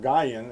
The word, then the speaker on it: Nguyen: Nguyen, N-G-U-Y-E-N, or Guyen if you don't pronounce the N, said that the cop threatened to seize and tow his car if he spoke up about it.